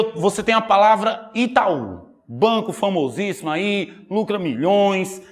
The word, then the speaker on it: Itaú: aí lucra milhões eu vou separar a palavra Itaú com vocês se separa assim ó e tá um o estar sozinho sim ou não o estar sozinho por isso que eu tenho que colocar um acento se eu não colocar um acento não fica mais Itaú fica como e